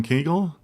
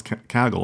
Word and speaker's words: Kaggle: Is it Kaggel or Kaggle? I just said Kaggle. I just said Kaggel, but I usually pronounce Kaggle. I don't know why I mispronounced it.